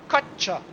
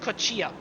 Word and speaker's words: Kocza: Told me that it's probably Kocza, not Kocza. What I have talked about, used for how often, I don't know. But apparently it's Mateusz Kocza.